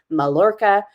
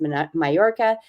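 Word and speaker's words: Mallorca: to look it up it's spelled m a l l o r CA malorca but it's pronounced mayorca and it is a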